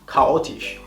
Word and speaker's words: chaotisch: Pero al principio de la palabra, la CH se va a pronunciar como una K, prácticamente. Es decir, caos. CH, caos, chaotisch.